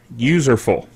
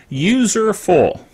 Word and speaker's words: Userful: the topic of userful now it sounds like a mispronouncing useful but that is the name of the organization of the company that makes this software and also the name of the software user full it's useful for users it's useful all right